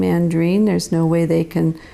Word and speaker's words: Andriene: I got all upset about that because people mispronounce my name andreen there's no way they can say it if